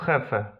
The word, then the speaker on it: jefe: Literka J w hiszpańskim wymawiamy jako H. Un jardín, un jefe.